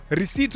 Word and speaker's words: receipt: Receipt, what is the P doing on receipt? What is the P doing there?